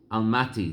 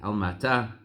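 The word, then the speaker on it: Almaty: in kazakhstan to a town called al-mati that's how they pronounce it today al-mati al-mata and he and his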